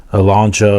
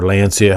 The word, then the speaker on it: Lancia: unfortunately it's with the Lancia or Lancia, however you prefer to pronounce it. In America here, a lot of people just say Lancia, but I think they say Lancia overseas.